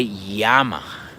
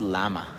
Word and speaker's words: llama: word has two L's and the pronunci the pronunciation for this for this letter is a we say yama yama right not llama right and there is many Words in Spanish